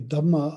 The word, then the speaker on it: dhamma: a word about dhamma the dhamma of course is the pali pronunciation of the word dharma which generally has a lot